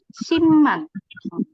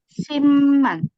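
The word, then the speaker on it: 십만: Jadi simman. Cara bacanya adalah simman. Kenapa? Karena kalau dia bertemu M dibaca M.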